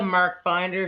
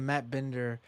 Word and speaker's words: Matt Binder: Wait, sorry, is this the Mark Binder show? No, it's not the Mark Binder show. I'm sorry. It's the Matt Binder show.